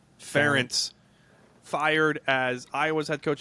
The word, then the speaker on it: Ferentz: Brian, how do you pronounce his last name? Ferentz.